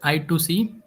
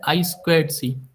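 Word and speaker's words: I²C: यह एक प्रोटोकॉल है समवन प्रोनाउंस ट आई टू सी और समवन डिफरेंट टाइम बट इस जो एजेक्ट प्रोनाउंस है वो है आई स्क्वा सी ठीक है हम इसमें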